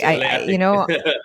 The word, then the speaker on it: walay atik: And walay atik, is that how you say it? Walay atik. Yes, wala atik.